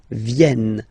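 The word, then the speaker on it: viennent: a ok ill VN so remember this classic ending NT for the third person of the parole is here but phonetically doesn't exist so you don't pronounce it vien vien ok ill en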